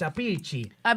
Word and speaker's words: Appice: Well, it's you got to say it right. It's Appice. Okay. Remember, he's Italian.